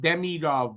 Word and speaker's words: Demidov: And it's pronounced Demidov, by the way, officially.